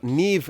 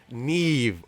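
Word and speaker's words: Niamh: do we know about tom legend's opponent uh neim nelly well neve nelly uh as it's pronounced um while it's spelt and i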